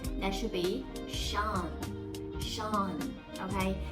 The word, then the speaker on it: Sean: S-E-A-N. How do you read this word? Sing? That's not right. That should be Sean. Sean. Okay? So the pronunciation is as same as S-H-A-W-N.